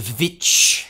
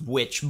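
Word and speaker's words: The VVitch: up we have the vich which i know is supposed to be pronounced witch but that's how its stylized this is one of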